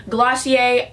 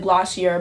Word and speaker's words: Glossier: hair we're talking about glossier I don't know why it's called glossier when it looks like glassy ER but whatever trying to